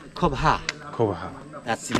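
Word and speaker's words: Coba: Why, when I talking about what means Cuba, C-O-B-A, in Mayan we pronounce Cobha. Cobha.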